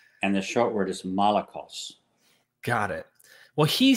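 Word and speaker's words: malakoi: honest arsenicoites okay and the short word is molecules got it well he says and I'm just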